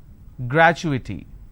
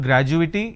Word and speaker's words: gratuity: pictorial confirmation technology accrual gratuity it's not graduating it's gratuity all right so when